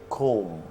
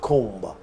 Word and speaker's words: comb: Okay, so you do not pronounce the last B. So you say comb, not comb. That's wrong. Okay? In combs.